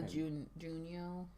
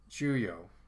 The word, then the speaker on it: Juyo: So the Junyo? Exactly. And what is it? Did I say it right? Juyo. Juyo? No N in there.